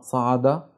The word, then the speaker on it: صعد: معي احسنتم يا ابطال الكلمتان هما صعد وسعد والاختلاف بينهما هو حرف الصاد وحرف السين فكلمه صعد تبدا بحرف الصاد اما كلمه سعد تبدا بحرف السين هذا كل شيء ارجو